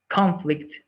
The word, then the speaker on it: conflict: Conflict and conflict. What is the difference between that word pronounced with different stress?